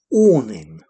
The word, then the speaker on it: awning: An awning. Awning. Notice the pronunciation. Awning. Sounds like it begins O-R.